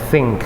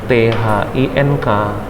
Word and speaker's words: think: Kalau dia benda, maka thing berdengung di ujung, thing agak panjang kan karena dengung. Tapi kalau berpikir menjadi think, jadi ada k-nya dikit aja, jangan kuat-kuat juga.